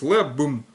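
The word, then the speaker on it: לעבן: БМ в конце читается, пишется нун, то есть там получается лангернун, да, в конце. Вот, но читается как бым-пым, то есть лэ-бым.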